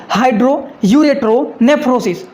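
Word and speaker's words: hydroureteronephrosis: देखिए आप लोगों को समझने के लिए यहाँ पर लिख दिया मैंने, हाइड्रो यूरेट्रो नेफ्रोसिस। ये इतना बड़ा लिखा गया है ये। तो इनका मतलब क्या होता है, देखिए हाइड्रो यूरेट्रो नेफ्रोसिस का मतलब होता है कि किडनी में पानी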